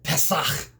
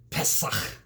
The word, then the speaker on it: Pesach: passover because in hebrew the passover is called pesach pesach and in greek which the greek gets its